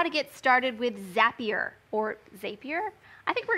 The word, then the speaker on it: Zapier: I think we're going to call it Zapier today. Zap. It's a zap, isn't it? Yeah. We're creating zaps in Zapier. So we're going to go with that. Zapier. Okay. We'll go with that pronunciation.